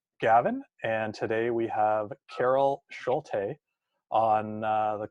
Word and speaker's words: Schulte: I am your host, Gavin, and today we have Carol Schulte on the call with us today. And Carol, did I pronounce that correctly?